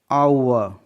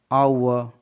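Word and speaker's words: hour: H के बाद O है इसलिए H साइलेंट है. ऑनर मतलब सम्मान. आवर. H के बाद O है तो H साइलेंट है. आवर.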